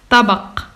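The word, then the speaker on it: طبق: A dish is nine is pronounced tabak.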